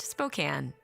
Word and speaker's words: Spokane: It's pronounced Spokane.